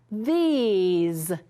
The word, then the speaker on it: these: Remember, we have an E, consonant E, so that means this one's going to say E. Here we go. The ease, these, these.